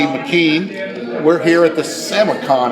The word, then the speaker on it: SamiCon: we're here at the semuc on is that how you say it Sammy Sammy Khan except I know my kids